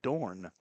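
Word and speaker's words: Dohrn: Thank you, Doug Dorn, with a silent H.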